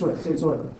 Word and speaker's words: Euler: Okay, yeah, it's Euler. It's pronounced Euler.